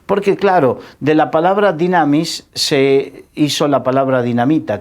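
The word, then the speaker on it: δύναμις: Nuevo Testamento, por ejemplo, se escribe dunamis, pero la U se pronuncia como I, entonces Dinamis.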